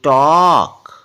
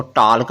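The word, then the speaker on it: talk: फिर देख लेते हैं टी ए एल के टॉक ना की टॉक बहुत से लोग इसको टलक पढ़ते हैं टॉर्क नहीं होता य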